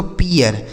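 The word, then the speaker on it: peer: ठीक है, P double E आर इसे पढ़ेंगे दोस्तों पियर, क्या पढ़ा जाएगा?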